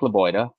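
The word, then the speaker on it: Lebioda: is a name I think you'll like Hank laoa nice um am I pronouncing that correctly yeah perfect um again like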